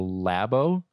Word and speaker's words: Labo: it wrong yes Nintendo lab oh yeah what are you scold for labor I said labo labo is it looks labo like Lobo with a Nintendo lab